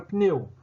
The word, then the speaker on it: pneu: perseguida por nenhuma vogal como na palavra pneu o p da palavra pneu é mudou porque porque dele não porque depois dele não lá vogal alguma então quando xingar e